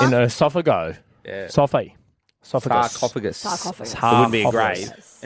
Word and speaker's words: sarcophagus: Sarcophagus, it's pronounced.